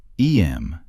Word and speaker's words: Eyam: Eyam, you know, is pronounced just like Em.